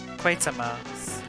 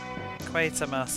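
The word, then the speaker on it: Quatermass: title B crawling eye officially quarter to rhyme with creater quater quater Mass oh yes there's no R quer Mass experiment should probably watch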